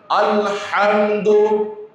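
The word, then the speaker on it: الحمد: মনে করেন আলহামদু এটা কন্ঠনারীর মধ্যখান থেকে উচ্চারণ হয়। এটাকে যদি আমি কন্ঠনারীর শেষ ভাগ শুরু থেকে উচ্চারণ করি তাহলে আলহামদু শব্দটির যে অর্থ আল্লাহর প্রশংসা এটা থাকলো না এটার ব্যাড অর্থ হয়ে যাবে খারাপ অর্থ হয়ে যাবে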